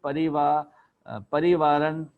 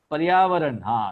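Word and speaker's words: पर्यावरण: It's called Parivaran, whatever that name is. I can't pronounce it very well. Paryavaran, it's Paryavaran is the Hindi word for environment.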